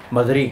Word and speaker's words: Madrid: To pronounce it, you don't say verdad, you say verdad. Verdad. Like Madrid. They don't say Madrid, they say Madrid.